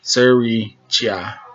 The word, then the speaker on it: Sirichai: I want to say sriracha, like the sauce, but it's no A in there, so it's Sirichai.